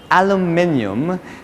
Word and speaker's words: aluminium: oh by the way that is how the british pronounce it aluminium yes and you can